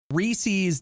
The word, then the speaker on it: Reese's: da radio you calm reese's does not rhyme with feces